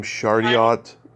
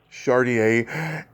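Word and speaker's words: Chardiet: I love the chemistry between you and John, how you pronounce his last name, Chardiot? Chardier.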